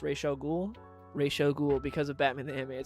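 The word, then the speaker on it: Ra's al Ghul: have readed is just awful how do you pronounce Rael ghoul Rael ghoul because of Batman the an series that's how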